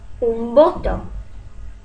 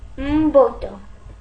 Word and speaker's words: un voto: Another something interesting, when you see these written letters M or N followed by a B or a V, they're both going to be pronounced as the English N. Why? Because we put our lips all the way together. So, for example, un voto.